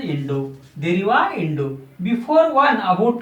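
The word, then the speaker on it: インド: The India will be pronounced in Japanese such as Indo.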